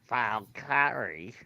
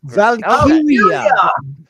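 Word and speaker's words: Valkyria: You see a Valkyrie is something completely different. Casey. No. Valkyia. Valkyia. It's It's like literally you're reading the word. Valkyia. It's in the word. You're not even bothering to read. You're like, "Yeah, that's too many syllables. I'm not going to read it."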